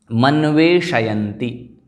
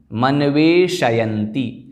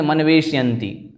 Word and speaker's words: मन्वेषयन्ति: देखें, मनवेशयन्ति, मनवेशयन्ति। कई लोग उच्चारण करते हैं मनवेशयन्ति, शकार को हलंत कर देते हैं। वह नहीं करना है, ध्यान रखना, शकार पूरा है। अतः मनवेशयन्ति, मनवेशयन्ति।